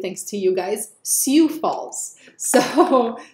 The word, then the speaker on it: Sioux Falls: number three spot and I am going to pronounce it correctly thanks to you guys siou Falls so Sioux Falls South Dakota let's take a look it looks